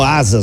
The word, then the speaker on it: SaaS: atividades burocráticas das empresas a palavra asas que se pronuncia como asas mesmo Vem da expressão automation